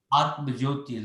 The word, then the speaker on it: Atma Jyoti: Atma. Atma, not Uh-huh. Atma.